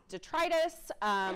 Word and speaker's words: detritus: just throw out and I've heard this pronounced multiple ways um I pronounce it detrius I've heard it pronounced detritus however you pronounce it that is essentially